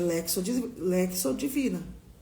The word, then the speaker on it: lectio divina: Jejum, oração, eucaristia, lexo divina. Ou você que é evangélica, devocional, né? Porque as evangélicas, elas fazem devocional. Os católicos não é devocional. Tá, gente? É lexo divina. Se escreve lectio divina.